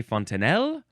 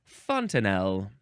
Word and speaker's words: fontanelle: You can also pronounce it, you can say fontanelle or fontanelle. Either one.